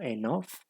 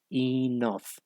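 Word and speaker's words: enough: al leerla pues uno uno como que la pronuncia como enof pero la pronunciación sería y nove listo listo Entonces sería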